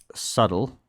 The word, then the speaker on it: subtle: It's just subtle. Okay, subtle with a silent B.